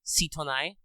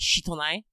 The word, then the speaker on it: Sitonai: a writing system uh there's some scholarly debate exactly on how you're supposed to pronounce this um the phenome could be sitonai or could be shitonai since one of those things sounds like a swear and usually her name is uh romanized with just the s i for the sake of